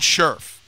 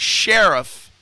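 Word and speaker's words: Scherff: the right pronunciation is Sheriff okay like Sheriff of the town and they said Brandon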